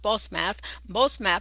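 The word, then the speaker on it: Basemath: Wife number two, here it says, and it's pronounced Bosmath, the daughter of Elon the Hittite.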